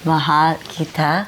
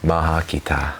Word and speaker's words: Mahal kita: Like, Mahal kita. I think that's how you say it. how do you say it? Mahal kita. Maha kita.